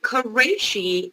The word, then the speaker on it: Quraishi: him as a federal judge how do you pronounce his name and what is the issue here uh his name is george quraishi and sadly brannon has already confirmed senate already